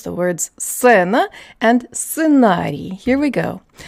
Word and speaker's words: сцена: So it's not сцена, it's сцена, сцена.